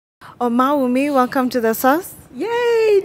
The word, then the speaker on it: Omawumi: Oh mommy welcome to the Sun yay thank you you got my pronunciation right hey thank you thank you so